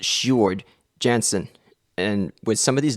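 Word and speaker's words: Sjoerd Janssen: It's actually pronounced Shard Jansen.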